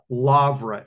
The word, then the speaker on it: Lavra: And I'll say it, you know, phonetically in English, the Petrush Lavra, L-A-V-R-A, monastery complex.